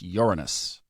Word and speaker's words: Uranus: I looked it up, and if you look at the Miriam Webster dictionary, it's Uranus.